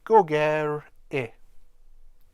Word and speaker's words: gogerych: trouble with Welsh speakers, as it should be Goge, and I should be rolling my R's as well. Now that's another thing in Welsh. You often find that you have to roll your R's. I can't do it, so I struggle. So it should be Gogerych, and then this becomes